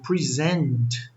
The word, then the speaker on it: present: Present, a sílaba tônica está em zent, aí já é o verbo apresentar.